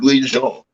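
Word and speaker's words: Louis-Jean: It's pronounced Louis Jean.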